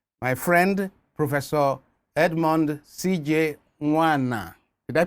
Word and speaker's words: Nwana: Nwana. Did I pronounce it well? Yes, Father. Professor Nwana.